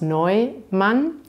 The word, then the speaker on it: Neumann: Also die Namen Neumann, neu ist vielleicht interessant, das EU, da spricht man Eu aus, Neumann, und Schwarz, das ist vielleicht ein Wort, was nicht so einfach auszusprechen ist.